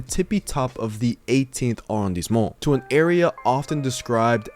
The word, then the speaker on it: arrondissement: We're in the 18th arrondissement.